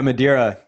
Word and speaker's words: Madeira: Madeira on the line here. Am I pronouncing your name correctly? Yeah, Madeira.